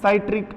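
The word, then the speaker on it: citric: Number 2, एसिटिक अम्ल की बात करें, साइट्रिक अम्ल, साइट्रिक, देखो प्रोनाउंसिएशन अलग अलग होता है, साइट्रिक अम्ल भी कहते हैं, सिट्रिक अम्ल भी बोलते हैं।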